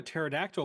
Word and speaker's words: pterodactyl: I'm a pterodactyl because the P is silent.